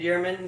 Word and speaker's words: Yurman: If you have a hard time remembering how to pronounce that, just think of David Yurman, the jeweler, and that's a good hot tip, #hot tip.